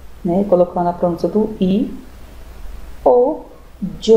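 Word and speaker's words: yo: temos o pronome eu em espanhol como se escreve com y o né ea sua pronúncia pode ser io né colocando a tônica do i old o apronta conspiração ter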